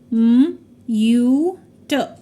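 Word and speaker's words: mute: ही उसे रीड करेंगे म यू ट और ई जो है यह हमारा साइलेंट हो जाएगा यह ई हमारा साइलेंट हो जाएगा तो हम इसे रीड करेंगे म्यूट ट्रिब्यूट किसी भी वर्ड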